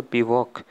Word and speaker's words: bivouac: फिर आपको दे रखा है which of the following is a correct spelling, बिवॉक की स्पेलिंग आपसे पूछी गई है क्या होती है। अगर आपने पढ़ा हो तो बिवॉक, BIVOUAC, ये वर्ड होता है, ठीक है।